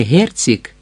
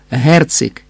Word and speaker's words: Герцик: Прізвище треба вимовляти не Герцик, а твердо Герцик. І наголос на першому складі, а не на останньому герцик, так?» «Так».